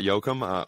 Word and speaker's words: Jochum: I know everybody pronounces it wrong, but yeah, we got Jochum, owner of Jochum Strength, sports performance center.